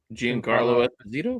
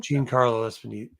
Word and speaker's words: Giancarlo Esposito: Giancarlo Esposito? Giancarlo Esposito.